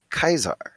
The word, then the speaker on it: Caesar: word written, and so he pronounced it Kaisar, Cae Kai Sar, Kaisar. And so everyone refers to him as Kaisar, and he's the leader